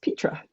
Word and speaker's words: Petra: And it's pronounced Petra.